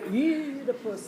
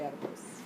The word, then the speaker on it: Oedipus: The British say potato, just as the British say Aeschylus and Oedipus. If you look at British production, they'll say Oedipus, which is actually closer to the Greek, and we say Oedipus.